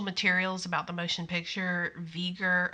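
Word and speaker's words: V'ger: the motion picture vieger i mean veger is spelled v apostrophe ger and i think if you see that you know you and you know what veger is then you have a pretty good idea it's voyager just abbreviated yeah and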